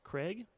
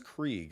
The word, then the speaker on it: Krieg: Ross Craig? No, I think that's Krieg, if it's the German Krieg? pronunciation.